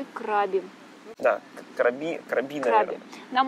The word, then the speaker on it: Краби: Я не знаю, как точно делать ударение, почему. Но они говорят Краби. Они говорят Краби. Краби. Говорите Краби. Краби.